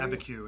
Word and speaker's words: Abiquiu: It's, you know, when I saw it, it was, I mean, it's, I guess you pronounce it. Well, Abiquiu.